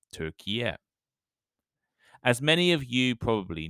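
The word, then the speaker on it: Türkiye: officially known in English by its Turkish name turkia and I apologize for the pronunciation if I'm wrong in late 2021 the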